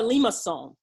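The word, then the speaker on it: limaçon: and then do that that's called a Lima song I'll spell it for you later don't worry it's a French name but Lima that means it looks like you know what lima beans are they ready no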